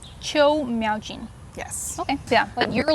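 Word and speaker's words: 邱妙津: And how do you pronounce the author's last name? Qiu Miaojin. Qiu Miaojin.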